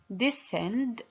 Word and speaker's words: descend: We have the first one is descend. Yes, we have C here. It's a silent C.